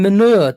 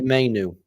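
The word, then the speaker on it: Mainoo: Stop calling him manure, Dermo. I told you. I called him Manu. Oh yeah, I keep getting manure. His name wrong. What actually is his name? Kobe Mainu. Mainu. Yeah. That's what I said, Mainu.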